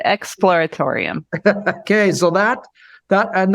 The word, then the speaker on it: Exploratorium: Emporium for one or Explorium I guess it is explor how do you say that expl Exploratorium yeah just slow down a little bit Exploratorium okay so that that